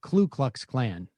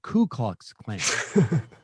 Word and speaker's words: Ku Klux Klan: uh in that segment i said klu klux klan instead of ku klux klan a lot of people say it that way too though it's true but it's also it is ku klux klan but i said klu